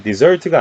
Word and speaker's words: desert: 자, 사막일 때는 이 desert가 아니라 desert라고 읽지만 동사로 사용이 됐을 때는 desert라는 이음절 강세, 이렇게 이음절에 강세를 줘서 이 단어를 읽으시면 됩니다.